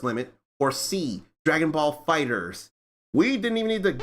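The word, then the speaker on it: FighterZ: Dragon Ball Fighters and it says fighter Z yes but it actually is pronounced Dragon Ball Fighters it's actually pronounced Fighters and I will not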